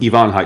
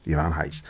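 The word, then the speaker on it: Ivan Reis: Ivon Heis. Thank you, Yvon Heis.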